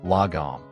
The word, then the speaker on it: lagom: as it is practical lagum pronounced Lam it's a Swedish word